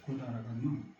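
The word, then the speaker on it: 百済観音: 그 불상 이름이 뭐냐면 구다라 간논이라고 읽어봐요. 구다라 간논. 이제 구다라는 백제를 일본서 구다라고 친다. 구다라. 간노는 관음이에요.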